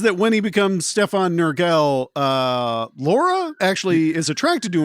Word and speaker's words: Nurgle: it does say here that Nurgle, am I pronouncing that right, Nurgle?